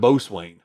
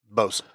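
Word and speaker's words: boatswain: Um, so just like Bowzen and Bowswain, the the guy with the whistle, it pronounced either way, too. But what do you hear most of the time? Bosen.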